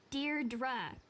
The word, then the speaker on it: Deirdre: something well hi didi Deirdre I know it's got that tricky second syllable but I figured it